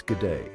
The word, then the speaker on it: g'day: That irresistible pull of adventure, of new beginnings, of finally learning how to pronounce g'day properly. It's g'day, by the way.